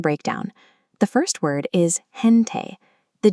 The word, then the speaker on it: gente: The first word is gente.